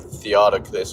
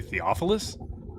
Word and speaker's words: Theophilus: So I'm pretty sure you were saying like Theodicus or whatever his name is wrote, Mark or something like that.